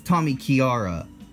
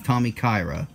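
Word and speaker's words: Tommykaira: guys here Tommy Kyra I say it was Tommy Chiara until I saw that a came before the I I never called it Tommy Chiara in the previous videos but growing up that's what I said that's Tommy Kyra Aston Martin I say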